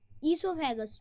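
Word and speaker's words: oesophagus: Okay, food pipe और ईसोफेगस, ओ silent है इसलिए हम ईसोफेगस पढ़ेंगे इसे।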